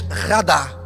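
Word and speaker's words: רָדָה: Dominar, aqui esta palavra em hebraico, uma palavra que se pronuncia talvez radá.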